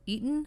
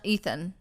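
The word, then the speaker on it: Etan: So just so everybody knows, So it's not Ethan. like Eaton, the town that's like down the road. Kind of, just without the O. Okay, I got you. Anyway, so Ethan Patz, who was never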